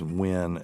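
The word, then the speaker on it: Nguyen: me see if it's win uh it's probably taiw it's NG he's Vietnamese okay so if NG what we would pronounce uan is actually win I would assume that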